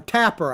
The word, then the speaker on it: Tapper: was pretty interesting actually but jake trapper or tapper i guess is how you say his name